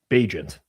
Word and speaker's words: Bagent: the league, let's figure out what the preferred pronunciation is. Bagent.